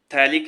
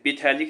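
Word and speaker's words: phthalic: थैलिक acid पीथैलिक नहीं बोलते P silent होता है इसमें थैलिक एसिड किसमें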